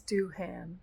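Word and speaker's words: Doohan: I don't think it's Duhan. I think it's Duan, right?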